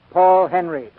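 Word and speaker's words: Henreid: in many a day he pronounces his name paul henry he and ida lupino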